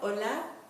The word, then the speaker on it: hola: If you could please repeat where you are, hola. Remember that the H is silent, so even though it begins with an H, you will not hear that H.